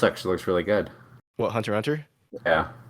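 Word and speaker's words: Hunter × Hunter: came up I said Hunter Hunter into Google was is Hunter Hunter over yeah and it's not pronounced Hunter x Hunter so just say hunter hunter the x is like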